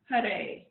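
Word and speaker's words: Haray: We're going to chant the mantra, Had Hare. So H-A-R, Had, and we'll take the tip of our tongue, press it against the roof of our mouth, and then Hare. So again, it's spelled H-A-R-A-Y, and this is representing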